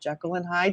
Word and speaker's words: Jekyll and Hyde: You did both of them in one drawing, telling a story of basically your version of I want to say Jekyll and Hyde.